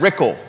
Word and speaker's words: Rickel: term she's running against Brad rickel rhymes with pickle if she beats Brad